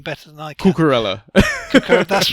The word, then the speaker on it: Cucurella: Again, with the Brighton player coming in, who you can pronounce his name better than I can. Cucurella.